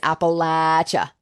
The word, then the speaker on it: Appalachia: called Christmas and Appalachia P.S the the correct pronunciation is Appalachia a Appalachia how do how do we know